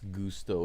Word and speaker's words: Gusto: In Japanese, it's Gusto. It's pronounced like the Spanish version.